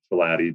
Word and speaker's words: Schilaty: Yeah, so I joke that my last name roughly rhymes with beef patty. So Schilaty, beef patty.